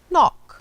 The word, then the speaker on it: knock: Knee, no, knife, knock. Nessas palavras, por exemplo, nós não pronunciamos a letra K antes do N no começo da palavra. Todas elas começamos com som de N.